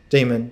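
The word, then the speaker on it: daimon: in the Paleolithic is called Diamond demon d-a-i-m-o-n pronounced demon diamond so the demons are the gods of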